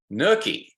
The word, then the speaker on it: nuchae: All right, and it looks kind of like nucha, but the official way you pronounce it is nuchae.